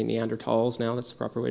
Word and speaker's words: Neanderthals: we would share common ancestors with species like neanderthals or I should say neanderthals now that's the proper way to pronounce it now and then species like the